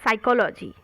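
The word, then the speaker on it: psychology: एट him correct spelled साइकोलॉजी पी एस वाई साई प will be silent कोलॉजी सी एच ओ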